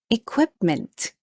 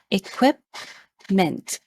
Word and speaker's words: equipment: it is pronounced as equipment the stress is on the second syllable equipment they say it equipment